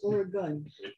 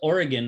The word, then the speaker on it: Oregon: It's Oregon, not Oregon, because there's no E at the end of it. Everybody always says Oregon, and it's not how you say it. Oregon. It's Oregon. Oregon. Like a gun. Oregon. But with a gun, with a U.